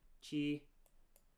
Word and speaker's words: ち: ち Chi.